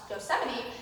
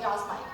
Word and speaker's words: Yosemite: from a girl who didn't know how to correctly pronounce Yosemite till about 4 months ago. But in my defense, it took someone 18 years to tell me it wasn't Yosemite, so.